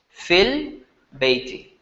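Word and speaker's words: في البيت: But how are you going to pronounce it when you're reading? As if the ya is not there. Fil bayti.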